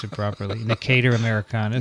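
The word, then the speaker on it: Necator: Here, 2 episodes downstream, I learned how to pronounce it properly. Nicator americanus.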